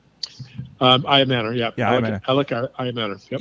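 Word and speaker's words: Ayomanor: But Eric Ayamanor, is that how I pronounce his name? Ayamanor, yeah.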